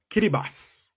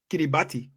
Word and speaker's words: Kiribati: I always pronounce it Kiribati, right? But in the native language, the ATI becomes an S.